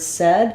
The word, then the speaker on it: said: AI usually says a but in the word said again it says the E vowel and so thinking of it more as being said rather than visualizing it this way is going to help you have that correct vowel he said again I